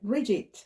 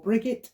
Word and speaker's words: Brigid: this also Associates with St Bridget or brigate or breed different ways of pronouncing that uh now she